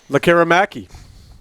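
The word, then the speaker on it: Lekkerimäki: Lecker-Mackey.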